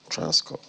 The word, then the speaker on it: Transcorp: Yeah, so the P is silent. Transcorp.